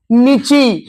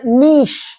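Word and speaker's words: niche: Next, অনেকে উচ্চারণটা করেছে নিচি, এটা আসলে নিশ। কি বললাম? নট নিচি, নিশ।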